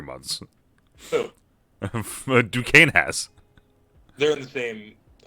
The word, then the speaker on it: Duquesne: Yeah, Duquesne. The S is silent.